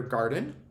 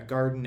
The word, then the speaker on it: garden: If we're thinking about this as a noun, a garden as a noun, that accent comes after that first syllable. Did these come out of your garden? And you listen to that second syllable and it's that schwa sound, that unaccented vowel sound, versus I like to